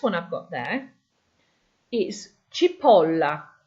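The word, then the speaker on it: cipolla: So the first one I've got there is chipola. You see where the O is in italics? That's where your stress is on the word chip.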